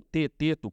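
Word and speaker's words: Teeteto: E essa ideia está explicitada num dos diálogos de Platão, que é o Tieteto, ou Teteto, como algumas pessoas gostam de pronunciar.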